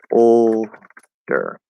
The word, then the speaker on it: older: is very difficult and the next one is almost the same but instead of a regular o in the first syllable we're going to do an l colored o and it's going to be ol instead of o o o so older older older and that d is